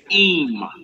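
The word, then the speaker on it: אם: You got im. Aleph mem. Now look, it's not im, ayan mem, meaning with. It's aleph mem. Im. Im. If. All right, so they sound the same, but it's spelled different.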